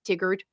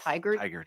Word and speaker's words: Tigard: a lot of mistakes tiggered oh Tigard yeah anyway uh my